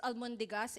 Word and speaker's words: almondigas: almondigas and in the in Spanish they would uh pronounce it as albondigas but in our version I don't know what happened happened but it's almondigas in our um culture in fact we have